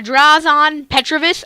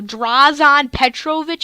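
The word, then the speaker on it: Dražen Petrović: on the Pacers a draws on Petrovich I just butchered his name I no drawers on pet trovit i believe it's how you say from the net and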